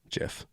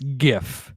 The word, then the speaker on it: GIF: It's pronounced with a hard G, so it's gif.